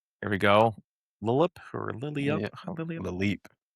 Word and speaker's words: Lileep: Lileep or Lilia Lilia Lileep. Lileep.